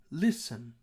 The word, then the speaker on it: listen: that word is higher which part of the word is lower the higher pitched syllable okay we're going to call stressed listen listen the beginning part of listen this is higher and we consider that to be stressed listen listen how about